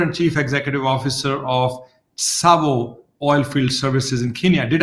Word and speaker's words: Tsavo: She is the founder and chief executive officer of TSAVO Oilfield Services in Kenya. Did I pronounce it right, Elizabeth?